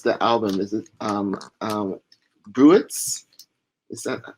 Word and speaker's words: Bruits: a few reasons is Broots, Broots phonetically, and that's kind of Broots, the Americanized version of it. But Bui would be the French spelling pronunciation of it.